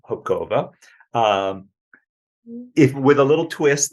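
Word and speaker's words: Hubková: So, And for everyone's benefit, pronounce your last name Hopkova. and then pronounce the word for mushrooms in Czech. Hoba. So it doesn't really sound that close. No. Hopkova, Hoba, but children were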